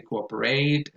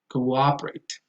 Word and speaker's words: cooperate: A lot of people say cooperate, that goes on the second syllable, cooperate.